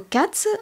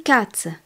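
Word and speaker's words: Katze: un garçon on dit Z car le mot Cats en allemand le chat est féminin cat le chat K a T Z e di Cats le mot Hund le chien est masculin der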